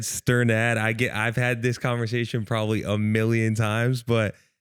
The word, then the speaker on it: Strnad: So it's really said Strnad.